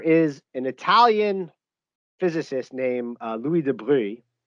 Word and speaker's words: de Broglie: an italian physicist named louis de bruy it's it's spelt de broglie but um french piedmontese and the the pronunciation is really weird it also doesn't matter